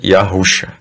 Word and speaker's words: Yahuxa: Yahuxa, a gente pronuncia Yahuxa.